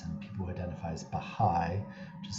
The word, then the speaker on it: Baha'i: forms of religious observance people who identify as baha'i this will come up in the cleavages section